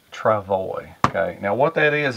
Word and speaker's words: travois: this word right here traval way okay it's pronounced trevally okay now what that is as years ago